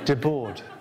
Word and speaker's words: Debord: How do you pronounce how do you pronounce the name Debord?" De Boer. I said, "De Boer." "Oh right, De Boer.